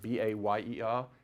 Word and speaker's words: Bayer: So one drug company in Germany was called Bayer, or Bayer, B-A-Y-E-R. How do you pronounce that in America?